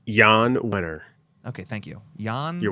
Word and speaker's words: Jan Wenner: out a book or guest upcoming book uh Jan Warner is that how you say his name it's Jan winner okay thank you Jan you're welcome Juana um